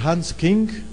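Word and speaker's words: Hans Küng: Igreja Católica escrita por Hans King na verdade se escreve Hans Kun trado este homem é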